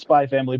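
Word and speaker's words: SPY×FAMILY: just spy family so you can pronounce it as spy family but the x is just there as a marketing as something as something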